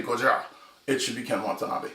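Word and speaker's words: Gojira: it was originally said it's not godzilla originally it was gujarat's it's the pronunciation and all that stuff but he does it if if anyone's going to say goja it should be ken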